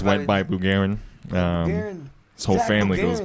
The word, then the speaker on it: Bugarin: Bugarin.